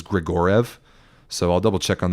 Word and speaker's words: Grigoriev: I was very certain it should have been pronounced Grigoriev, 4 syllables, but it was written in Irvine's team published pronunciation guide that it was Grigorev.